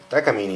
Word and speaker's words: Takamine: 1978 takamini f 385 takamini that's the pronunciation in japanese actually and which is also pretty close to what that would be in spanish um and this is